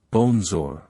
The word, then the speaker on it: bonjour: to say hello or good day it is pronounced as bonzor here's a simple explanation of its meaning in usage bonjour is a polite and friendly way to greet